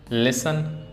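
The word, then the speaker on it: listen: अब कैस्टल कैसल लिसन will तो इसमें पता है टी साइलेंट है।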